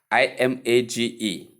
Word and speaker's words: image: Short E sound with M sound, with short E sound and G sound. So what should we call this? It is simply image. Image, not image.